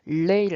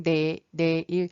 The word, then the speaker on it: 내일: 내일 올 레이지만 레 두음 법칙으로 인해서 리을 발음이 이 단어의 첫머리에 오면 발음이 힘들기 때문에 레일 아니고 내일 올해의 다음 해는 올해